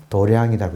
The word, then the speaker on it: 도량: 도장을 분류식으로 읽으면 도량이라고 읽어요. 한자로는 도장이에요. 검도할 때 도장.